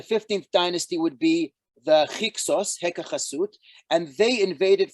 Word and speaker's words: Hyksos: So the Hyksos, which is a mispronunciation, you can see a Greek pronunciation of Heka Chasut, which means basically foreign